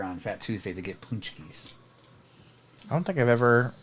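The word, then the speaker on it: pączki: a c k z i like patki it's pronounced punchki yeah but um I'll see them here at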